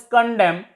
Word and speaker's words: condemn: It is pronounced as condemn.